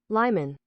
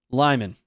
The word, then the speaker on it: Lyman: Pronounce that. That Lyman. Lyman. I I wasn't even close with either of the others.